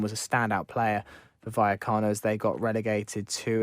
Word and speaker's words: Vallecano: Rayo Vallecano. Double L's are pronounced as a Y.